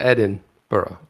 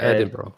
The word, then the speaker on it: Edinburgh: it right sorry well you got to emphasize the edin burrow it's like the edinburgh ed edinburgh edinburgh edinburgh